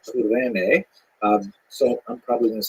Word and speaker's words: Cyrene: I've looked it up and I've heard it pronounced as Cyrene in English. In Greek, it would have been something like Kurene.